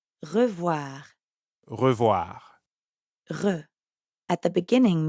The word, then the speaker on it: revoir: And voir is easy because it rhymes with soir, like in bonsoir.